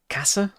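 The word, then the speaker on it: Käse: I was pronouncing cheese wrong. It's like Kasse.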